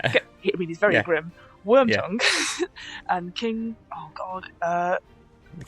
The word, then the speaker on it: Wormtongue: Is it Grimworm or Grimtongue? The guy. Wormtongue. I was close. Grim. Yeah. I mean, he's very grim. Wormtongue and King.